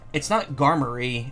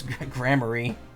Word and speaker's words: Gramarye: That being said, it's not Garmarye. I'm pretty sure it's Gramarye. Yeah, G-R-A-M.